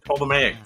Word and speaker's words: Ptolemaic: She was born into the Ptolemaic dynasty of Egypt, or if I don't pronounce the T, Ptolemaic dynasty of Egypt.